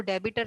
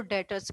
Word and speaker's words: debtors: इसका B silent होता है, इसको डेबिटर नहीं पढ़ते, इसको डेटर्स पढ़ते हैं.